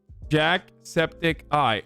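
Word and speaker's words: Jacksepticeye: version of Finland Saga Jack Septic Eye okay that's right I've been saying it right then Jack spedici okay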